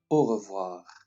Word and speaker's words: au revoir: next one once again au revoir note that the pronunciation of the r is different the one on the